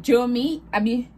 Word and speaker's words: Jomi: And then they named it Jomi. That's how they say it. But when I say my hair, I see Jomi, like Josh, then me.